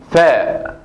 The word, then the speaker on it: ف: Vamos con la primera letra, que es fa, fa, fa. La primera letra es fa, fa, fa, como la F española.